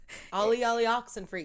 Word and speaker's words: olly olly oxenfree: it's ollie ollie antifreeze olly olly oxenfree you didn't say ox you said sin free or something i think i probably